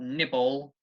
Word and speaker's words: nibble: obviously like I said before cannibal the stress is on the first syllable cannibal was the the verb nibble the stress is on the first syllable nibble nibble okay so cannibal nibble